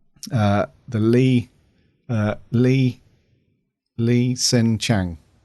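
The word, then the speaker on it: Li H'sen Chang: the Lee uh lee lee sen Chang Lee sen Chang that's right yeah a silent h isn't it Lee senang Lee Chang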